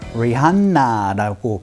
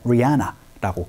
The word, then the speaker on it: Rihanna: 자, 오늘 여러분께 소개시켜드릴 손님은요, 바로 리한나라고 발음하기보다는 리아나라고 그렇게 발음을 해주고 있는 굉장히 유명한 가수를 여러분께 한번 소개를 시켜드리도록 하겠습니다.